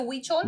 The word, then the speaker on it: Huichol: You know how to pronounce it? It's called salsa huichol. Yeah, it's like Huich. Exactly. Is it huichol? Yep, huichol. Look at me.